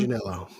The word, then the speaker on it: Manganiello: Manganiello. Okay, Manganiello.